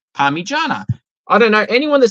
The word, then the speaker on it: parmigiana: I said, spell it out for me. P-A-R-M-I. Oh, no, yeah. But it just is. I'm like, no, you just spelled it out and pronounce it Parmigiana.